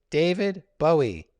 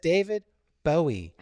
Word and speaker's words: Bowie: We know for a fact that Englishman David Bowie, when he pronounces his name, says, "Hi, my name is David Bowie." That's the way David Bowie pronounces his name. He says David Bowie. Okay? If you go to England and you're listening to the BBC and they say, "Oh, here's a piece on David Bowie."